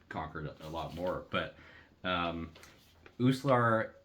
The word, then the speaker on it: Uslar: Uslar. Uslar, Uslar.